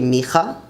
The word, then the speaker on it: מיכה: Micah or Micah is actually Micha, Micha.